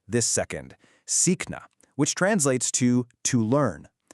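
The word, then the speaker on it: सीखना: Sikna, which translates to to learn. The really crucial part when pronouncing this word is to emphasize that drawn out e sound and then catch that soft c right in the middle.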